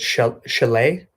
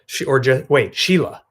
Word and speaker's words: Sheila: Is it Chalet? Is that how you say it? Sheila. Sheila, right? I think the spelling is really cool.